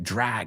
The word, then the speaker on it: drag: It's not pronounced like drug, right? Drag, arrastrarte.